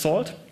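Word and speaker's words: NaCl: uses a networking and cryptography lip pronounced salt and it uses elliptic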